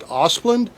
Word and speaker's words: Asplundh: And then when I was working in the dealership world, there's a company, I think they're pronounced Asplund. I think it's ASPLUNDH, and it's a company